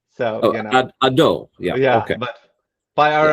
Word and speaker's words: Hadot: Yeah, and if you really want to be French, with a non-aspirated H. So, Hadot.